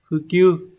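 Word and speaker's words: 普及: Từ này đọc là Fukyu.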